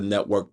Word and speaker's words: NETWRK: And then on top of that, check out the Network Podcast, which is pronounced network, but it's spelled NETWRK.